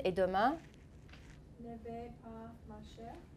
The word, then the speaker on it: marcher: Ne vais pas marcher à Chicago. Uh-huh. Je ne vais pas, how do you pronounce that? Marcher. The ER can sound like a long A sound.